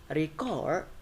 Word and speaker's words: record: For noun, the stress will be on the first syllable, and for verb, the stress will be on the second syllable. For example, like record and record.